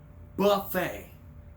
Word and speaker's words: buffet: b F get it Buffet two syllable word Buffet you don't know if